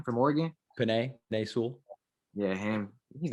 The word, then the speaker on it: Penei Sewell: that's like probably going like top 5 is Penny Sewell, I believe is how you say his name, from Oregon. Penei Sewell.